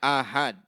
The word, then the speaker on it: ahad: Bukan hadis ahad ya. Cara membacanya ahad. A-nya dipanjangkan, H-nya juga dipanjangkan. Ahad adalah hadis yang tidak memenuhi syarat-syarat hadis mutawatir atau tidak memenuhi sebagian dari syarat mutawatir.